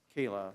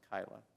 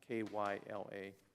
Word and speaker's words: Kyla: In the agreement, at the first paragraph, it says Kayla, it's Kyla, Kyla.